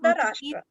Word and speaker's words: Dhritarashtra: So you told that Dhritarashtra, what how to pronounce Dhritarashtra. okay. Dhritarashtra.